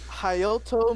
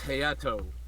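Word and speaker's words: Hayato: dragon um sure and you butchered the hell out of my name probably on purpose but that's okay no to be fair i thought that's how it was pronounced too it's heyato okay oh he said hey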